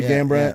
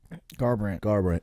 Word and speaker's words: Garbrandt: I remember Cody Gambrandt and I always pronounce his name wrong. Dominic Cruz. But I said Gambrandt, but how do you pronounce his last name? Garbrandt. Yeah.